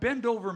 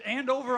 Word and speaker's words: Andover: From Bendover, Maryland. He's right. He comes from a family of Bendovers. Mickey thinks it's Andover. Oh, it's Andover. I'm sorry. Thinks. I'm sorry. I mispronounced that. It's Andover, Maryland.